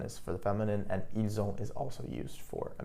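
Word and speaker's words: ils ont: You'll also notice that when I pronounced it, the s in which is normally silent was actually pronounced and I pronounced it like a zed.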